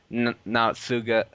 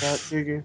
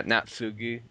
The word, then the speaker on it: Naotsugu: to bring everything out in the open, whereas Natsuga, however you say his name, was Naotsugu. yeah Natsugu.